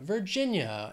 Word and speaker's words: Virginia: Vermont Vermont next is Virginia three syllables stress is on that second syllable Virginia Virginia and an expression with